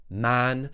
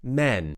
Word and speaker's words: man: hand we now have man make sure it doesn't sound like men to make sure that you don't say men instead of man push your tongue down open your jaw a bit more make